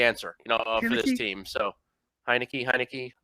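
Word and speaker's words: Heinicke: So Heineke, I'm not sure how it's pronounced. Like Heineken. Heineke. Okay, Heineke.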